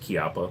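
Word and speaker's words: Chiappa: It's actually pronounced Chiapa, but no.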